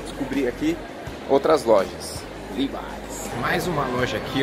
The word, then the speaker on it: Levi's: é, acredite se quiser, mas em inglês eles pronunciam Levi's. Levi's. Completamente diferente, né? Levi's. Levi's. Living and learning. Vamos lá, vamos para as próximas marcas. Vamos lá. Vamos lá passear e descobrir aqui outras lojas. Levi's.